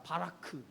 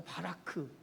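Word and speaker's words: ברך: 여러분 히브리 말로 복을 뭐라고 하는지 아세요? 한번 따라해봅시다. 바라크. 다시 한번 해볼까요? 바라크. 예, 발음이 별로 안 좋은 것 같아. 바라크. 예, 복이라고 하는 히브리 단어가 바라크예요.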